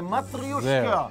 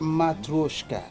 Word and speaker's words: מטריושקה: זה לא בבושקה, זה מטריושקה. צריכים לבוא לכאן. כדי לדעת, can you say it? How do you pronounce it? מטרושקה. מטרושקה.